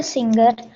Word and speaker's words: singer: G is partially silent. Not fully silent because you are not saying sinner.